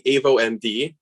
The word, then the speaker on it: avoMD: uh i'll be presenting avo md is uh the way to pronounce it and we're the next